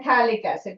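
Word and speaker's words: phthalic acid: ऊपर COOH group है इसको हम बोलते हैं थैलिक एसिड। पीएच इसमें साइलेंट है, ठीक है।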